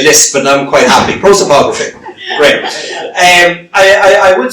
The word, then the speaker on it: prosopography: Prosopography.